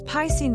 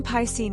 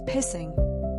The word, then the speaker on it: Piscine: Named after a famous Parisian swimming pool by his father's old friend, young Piscine endured years of schoolmates mispronouncing his name as Pissing.